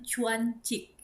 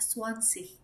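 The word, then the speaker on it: zwanzig: Kemudian Swansea atau 20 itu juga ada yang Chuancik, ada yang Juanjik, ada yang Swansea, ada yang Swansea gitu ya. Jadi setiap orang berbeda-beda. Tapi kalau aku untuk 10 dibacanya Chen. Jadi dry Chen, via Chen. Kemudian kalau untuk 20 aku membacanya adalah Swansea.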